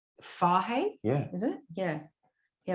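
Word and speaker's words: Fage: sweden yeah yoghurt called f-a-g-e oh apparently it's pronounced fahey yeah is it yeah yeah we only know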